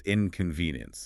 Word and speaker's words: inconvenience: The source emphasizes stressing the third syllable, so it's inconvenience.